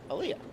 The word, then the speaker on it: Aaliyah: So just like the Donnie Iris song, Aaliyah.